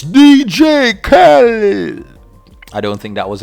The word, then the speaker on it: Khaled: i stink at that so much it's dj khaled i don't think that was any better but